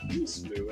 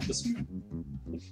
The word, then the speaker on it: Beesmoo: Beesmoo says his username is pronounced Beesmoo and not Besmoo. Beesmoo, hi!